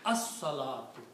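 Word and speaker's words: الصلاة: So it becomes al salatu, but in the tajweed you pronounce as salatu. So the swad changes the sound of lam.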